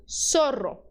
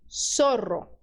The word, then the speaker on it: zorro: Na América nós pronunciamos como S, tá?